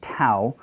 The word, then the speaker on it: tau: And when they would pronounce tau, that tongue would be pressed against that ridge and it would break away. Tau, tau, tau.